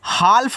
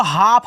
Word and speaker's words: half: तो इसको क्या पढ़ोगे, हाल्फ नहीं पढ़ना, इसको हाफ पढ़ना है।